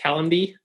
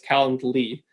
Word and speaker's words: Calendly: calendar with an L why everyone wants to pronounce it kallen D everyone says that's me but it's calendly with an L why at the end okay